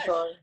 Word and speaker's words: Caesar: Cesar. Cesar? I don't know. How do Caesar. you pronounce Daniel it? Like Caesar.